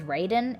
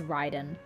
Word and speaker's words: Raiden: began roaming Inazuma okay I pronounced her name as Raiden it's it's Ryden it's it kinetically it's